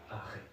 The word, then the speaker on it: haré: Haré. Haré, OK. Très bien. Haré, attention à la prononciation, haré.